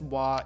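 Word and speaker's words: は: Like say for ha versus wa, they will explain this is how it's written as in ha, but you pronounce it wa in a sentence just because that's kind of how it's done.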